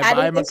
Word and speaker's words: Mekhi: Bye, Mekhi. I said it right. At first I said Micah, and Bryan was like, no, that is not his name.